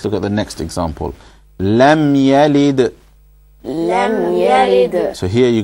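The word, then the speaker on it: لم يلد: Lam Yalid. Lam Yalid. So when you pronounce the meme here, the most important thing to do is not to bounce it.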